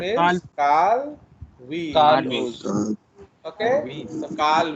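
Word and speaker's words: Woese: His name is Carl Weiss. Carl Weiss. Okay, so Carl Weiss, not Weiss. Okay, his name is Carl Weiss. In biology, OE is pronounced as E.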